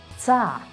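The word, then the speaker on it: -ться: You always read them as ца. Why? Because the sounds t and s together make the sound ц. ц. And ц can't be soft in Russian. So such endings will be always pronounced as ца.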